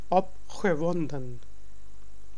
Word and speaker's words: opgewonden: But some people would say, just like in English, opgewonden. It's not gewonden. It's ge. Opgewonden.